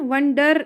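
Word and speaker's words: wonder: डर नहीं, हाँ, वंडर पढ़ते हैं बहुत सारे, पर डर नहीं पढ़ेंगे, वंडर, वंडर।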